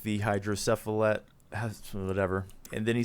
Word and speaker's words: hydrocephalus: Hydrocephalus.